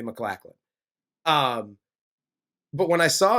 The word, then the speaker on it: MacLachlan: for the people watching Corey and I have had an argument about how to pronounce his name but the Google machine told me McLaughlin um but when I